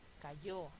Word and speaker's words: cayó: Cayó, acaba en O, es aguda, lleva tilde.